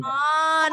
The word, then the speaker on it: aunt: Mom, your dad's sister, aunt. Bacanya aunt. U-nya nggak bunyi.